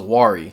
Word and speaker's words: Wari: And if you can spell it out, it spells Wari.